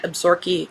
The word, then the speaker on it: Absaroka: When Pepper MacKenzie, one of the most hated men in Absaroka County um cuz that's how it's pronounced in Montana.